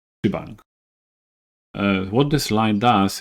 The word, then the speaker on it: shebang: referred to as bang so if you pronounce it it's shibang uh what this line